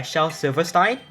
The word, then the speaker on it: Shel Silverstein: By any chance, have you read anything by Shel Silverstein? I pronounced it correctly, holy shit.